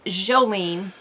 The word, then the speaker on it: Joulene: But we pronounce it Jolene, and it was just something that was made up.